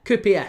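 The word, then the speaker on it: KuPS: for HJK Helsinki against Coups. So, uh, yeah, KPS, sorry, as it as it should be pronounced.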